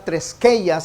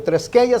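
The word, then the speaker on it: θρησκεία: La palabra religión es la palabra treskeia, se escribe TH treskeia con K, THR treskeia, y la palabra simplemente significa un culto religioso.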